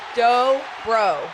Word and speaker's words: Dobro: Dobro. Dobro. Dobro. You think I'll ever get that? Dobro? Yeah. Dough, like bread dough. Bro. Bro. Not like hard.